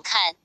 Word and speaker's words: 看: 用静心眼看，往四维上下看的看心，字虽相同，但读音各是第一声、第四声。